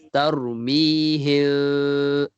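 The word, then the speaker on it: ترميهم: Kita bacanya tarmihim, ada renggang. Tak rapat bibir tarmihim bihija. Tarmihim, tengok. Okay. Dia bukannya kalau bahasa kita baca kan tarmihim, terdapat bibir, tapi dia tak. Dia tarmihim bihija.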